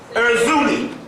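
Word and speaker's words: Erzulie: of the paper, this word, I want to spell it, E-R-Z-U-L-I-E. Erzuli.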